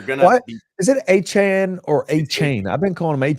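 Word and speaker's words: Achane: aan so you're gonna is it aan or a chain I've been calling him a as per Devon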